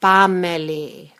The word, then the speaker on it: panmeli: When pronouncing it, you drop the N and get pameli.